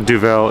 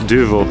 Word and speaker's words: Duvel: I've been saying it wrong. It's not Duvel, it's Duvel.